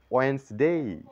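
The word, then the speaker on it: Wednesday: silent এখানে তাহলে ওয়েটনেস ডে না বলে বলবো ওয়েনসডে ওয়েন্সডে ওয়েন্সডে silent letter ই এর রুল যেটি হচ্ছে তা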